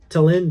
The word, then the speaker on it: Tallinn: But there is one city in the Baltics that's like a storybook, and that is Estonia, Tallinn, I think it is pronounced. Tallinn, that is an amazing place.